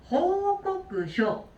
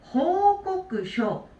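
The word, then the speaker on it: 報告書: 이거는 중간 한자를 잘 읽어주셔야 돼요. 이 알릴 꽃자. 알릴 꽃자가 쿠나코가 아니에요. 얘는 반드시 꼬끄라고 읽으셔야 돼요. 호꼬끄쇼, 호꼬끄쇼, 꼬끄라고 읽어주시면 되겠습니다.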